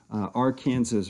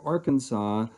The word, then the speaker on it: Arkansas: you are from Kansas you'll refer to the AR Kansas River Basin if you're from the state of Arkansas they look at people from Kansas and go